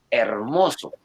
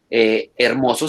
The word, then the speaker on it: hermoso: leemos fermoso ahora leemos hermoso cierto y muy seguramente en unos 40-50 años hermoso se escribe sin hache por ejemplo porque esa h que hace ahí esa h no dice nada entonces muy seguramente en